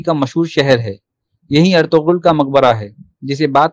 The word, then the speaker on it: ارطغرل: اہم بات یہ کہ اس کے نام کا صحیح تلفظ ارطغرل ہے، جبکہ عام طور پر لوگ ارطغرل کہتے ہیں، اور ڈرامے کی اردو ڈبنگ میں بھی ارطغرل ہی کہا گیا ہے۔ اس ڈرامہ